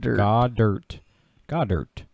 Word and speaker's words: Goedert: Godert. I can never pronounce his name, man. I am horrible with his name. Goddard. Yeah, perfect.